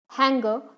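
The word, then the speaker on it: hangar: ठीक है, उसको क्या बोलते हैं, एबे, yard, हैंगर, shade. Yes, हंगर, हैंगर जो भी आप बोलते हैं इसकी प्रोनाउंसिएशन पे।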